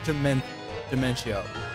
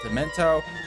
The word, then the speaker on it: Dementio: I pronounce it Dementio. Some people pronounce it Dementio. Some people just pronounce it Demento. I pronounce it Dementio because that's what I think it's supposed to be pronounced.